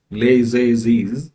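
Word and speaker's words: Les Eyzies: So this one again this one is pronounced as Leiz in Daon region of southwest France.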